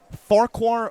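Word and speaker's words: Farquhar: If you go on their game notes to their pronunc pronunciation guide, it is put Farquar like Shrek is what the game notes will tell you.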